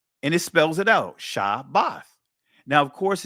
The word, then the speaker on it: Shabbath: Now, of course, it's not spelled with two B's, family, because it's only one bayath in the word. That's why you see me spell it SHA-BATH, just to make sure that you guys get the pronunciation correct and that there's no two B's in it.